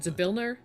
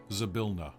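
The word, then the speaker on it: Zybilna: Is it Zabilner? Zabilna. Zabilna. Okay. I will spell it for you. So those of you who need to know for spelling, it is Z-Y. Oh, sorry, you're Canadian. Z-Y. But it's really spelled Z-Y. B-I-L-N-A.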